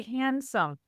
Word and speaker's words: handsome: the same process 100% example is handsome do you say handsome he's very handsome you know you say handsome that D got dropped a couple hundred years ago so all of these